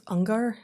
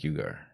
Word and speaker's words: Uygur: Cenk, I think it's Ungar, isn't it? Cenk. So, yeah, that's spelled weird, and his Cenk. name, how is it pronounced? I think it's Cenk Uygur.